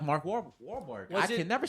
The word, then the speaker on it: Wahlberg: I need a poncho like Mark Wahlberg. I can never say his name right. Wahlberg.